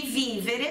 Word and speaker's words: vivere: no futuro permitirá di vivere pronunciar forte lá no vivere vivere não é viver né que prometera livre